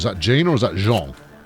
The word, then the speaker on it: Jean: Hold on, is that Jean or is that Jean? It's Jean. I beg your pardon, Jean. I was just a bit of mispronunciation on my part.